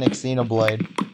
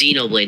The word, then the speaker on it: Xenoblade: she looks like an exoblade then Smash Bro she gets wait did you just say exoblade EXO blade that's it's not how you say it it's Xenoblade not X Xenoblade never play I've never